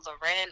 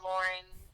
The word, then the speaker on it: Lauryn: You can pronounce it Lauren or Lauren.